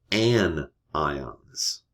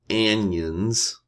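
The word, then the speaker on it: anion: The negative ions, they are technically called an ions, not annions.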